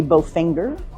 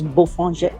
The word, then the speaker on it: Bofinger: Well, it looks like it should be Bofinger, but it's Bofinger.